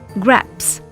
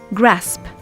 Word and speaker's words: grasp: We might pronounce a word the wrong way round, such as saying graps instead of grasp.